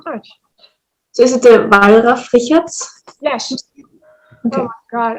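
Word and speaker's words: Wallraf-Richartz: You asked before how to pronounce the museum in Oh, Cologne. yes. Thank you so much. So is it the Wallraf-Richarts?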